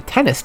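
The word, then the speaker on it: 10NES: I honestly think it's supposed to be pronounced the tennis chip. It's 10 NES. I would pronounce that as tennis. It's the tennis chip. Some people say it's the 10 NES chip or the 10 NES chip, though. To me, it's 10 NES. It should be.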